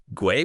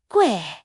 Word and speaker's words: 贵: Gui, like sway, but with a G? Exactly. Fourth tone. Sharp and falling like a gasp. Gue.